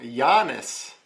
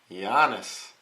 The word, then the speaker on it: Giannis: So Giannis, that's how you pronounce the Greek freak, Giannis.